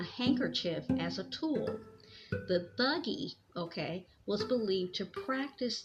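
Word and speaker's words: Thuggee: u g g e thuggy thuggy okay I believe that's how you pronounce I even looked it up and listened to them pronounce it thuggy and it says douge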